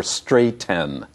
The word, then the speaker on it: straighten: It's not bottle, little, or straighten.